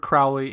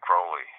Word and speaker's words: Crowley: Some Crowley names drifted in one direction and the other Crowley names drifted in the other. I was always under the impression that Crowley was an Irish pronunciation and Crowley was an English or British pronunciation.